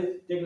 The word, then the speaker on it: the: तो vowel sound के पहले द का जो उच्चारण होगा वो दी के रूप में होगा।